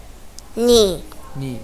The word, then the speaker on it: knee: Knee. K is silent letter.